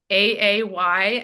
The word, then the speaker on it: Lagaay: How do you Yes, it's spell it? not phonetic. Okay, it's Lagaay, and Peter is Dutch.